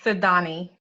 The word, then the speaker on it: Sydonie: Do you say Sydney? Do you say Sydonie? How do you pronounce it? Sydonie. Sydonie. Okay, Sydonie.